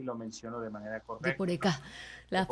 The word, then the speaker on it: Yeporeka: Yeporeka. Las Yeporeka, palabras guaraníes tienen siempre un acento en la última sílaba, Yeporeka.